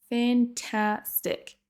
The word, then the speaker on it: fantastic: Là, vous entendez peut-être que j'accentue sur la deuxième syllabe. Fantastic. Donc c'est vraiment la deuxième syllabe qui sera prononcée plus longue et plus fort que les autres.